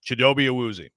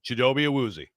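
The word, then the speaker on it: Chidobe Awuzie: English chidobe azi yeah how do you say it in your language CH he was like yeah so if you're gonna say it in English which you speak the way you say his name is chidobe aozi thank you now if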